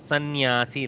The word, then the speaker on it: sannyasi: We should not forget this samnyasi. Okay, but pronunciation goes sannyasi like that.